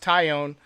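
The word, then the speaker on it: Taillon: now that i've seen jameson ty own and it's pronounced ty own um now that i've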